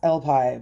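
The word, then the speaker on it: Elpis: It's actually I think there's some confusion as to how it's spelled or how it's pronounced, but it's El Pi but with a silent S.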